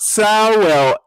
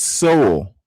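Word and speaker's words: Sowell: It's not Sel, it's Soul. That's how he pronounces his name.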